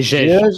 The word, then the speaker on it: Judge: Ça se prononce bien? Judge? C'est Gege.